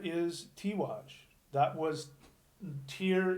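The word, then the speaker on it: Týr: tea wash that was tear is the Norse pronunciation the our sound on the Old Norse is equivalent to the AZ sound you know English tea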